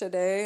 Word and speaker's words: Sade: how do you say her name Sade yes a day and unbutton my shirt slowly and probably tripped